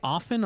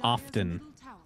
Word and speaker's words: often: I don't think it triggers me, but I don't like when you pronounce the T. Because it's supposed to be silent.